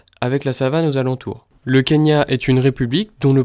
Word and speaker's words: Kenya: L'incoïncidence sur l'orthographe de son nom de famille entraîne ainsi le changement de la prononciation de Kignya en Kenya.